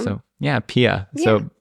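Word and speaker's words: PiAI: this today it's it's called Pia it's spelled Pi AI but it's even Up's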